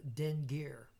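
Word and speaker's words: dingir: to as gods that they called them the den gear two syllables den gear who came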